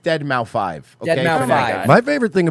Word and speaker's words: Deadmau5: pronounced Deadmau5.